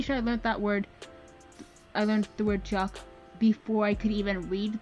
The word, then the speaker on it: teach: I speak Irish, and one of the words you learn really early on in Irish is chalk, which means house, but it's spelled exactly the same as the English word teach.